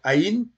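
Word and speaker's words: ע: Alors, Aïn, c'est comme le He, c'est une lettre silencieuse. On prononce que la voyelle.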